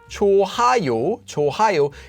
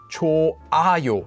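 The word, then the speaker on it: 좋아요: it actually disappears so this word you might think it's ohio this is actually just pronounced as cho ayo as if this here didn't exist because it's coming together with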